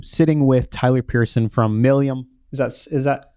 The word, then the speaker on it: Malleum: Today, I am sitting with Tyler Pearson from Malleum. Is that right? Close, but How do you say not it? so close. Malleum, Malleum, sorry. which is a It's Latin tough word for hammer.